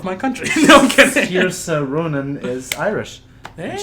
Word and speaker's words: Saoirse: Saoirse. That's how it's pronounced. Yeah. Saoirse.